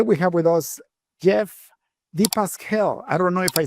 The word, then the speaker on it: dePascale: Very frequently mispronounced and you were very very close to exactly right. So thank you. It's it's the Pascal. Deep Pascal. Yes.